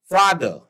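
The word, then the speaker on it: father: आया और आर आया तो आर हम लोग साइलेंट कर देते हैं भले से आर है लेकिन आर का प्रोनंसिएशन नहीं होगा राइट तो यहां पे समझने वाली बात है जैसे आपने देखा एफ ए टी एच ई आर एफ ए टी एच ई आर तो ये क्या है फादर क्या है ये फादर देखिए ई के बाद आर आया है तो आपने क्या कैसे प्रोनाउंस करेंगे आप बोलेंगे फादर मदर एम ओ ओ टी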